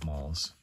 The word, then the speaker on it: Mals: I'm going to just suggest going with mals.